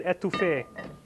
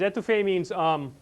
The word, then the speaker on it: étouffée: If you put the emphasis on the first E, étouffée, that's like smothering a person.